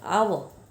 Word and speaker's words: hour: जैसे कि I played for an hour. Arun is an honest man, right? तो दोनों के अंदर हमने एन लगाया है क्योंकि यहाँ पे पहला लेटर जो कॉन्सोनेंट है वो साइलेंट है।